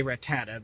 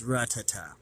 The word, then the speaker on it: Rattata: I used to say Rattata, but I can see here that it's Rattata.